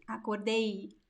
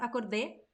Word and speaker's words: acordei: Acordei, acordei. There is a diphthong at the end.